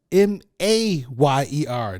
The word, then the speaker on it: Mayer: It's Mayer, not Meyer, Meyer. Mayer.